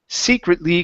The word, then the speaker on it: secretly: have the word secretly the stress is at the beginning secretly considers secretly considers okay